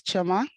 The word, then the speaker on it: Chioma: you Saeed um uh my name is chioma there also you pronounced it right and I'm based at